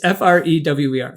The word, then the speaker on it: Frewer: Oh my, I've never pronounced his last name before. Matt. It's Frewer.